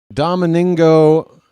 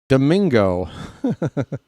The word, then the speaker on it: Domingo: Dominengo Domingo Just gave him an extra syllable for no reason.